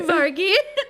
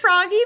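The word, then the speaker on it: Vragi: the audio book I it sounded like they were saying froggy that's what I thought you were saying it was like froggy but with a v isn't that hilarious froggy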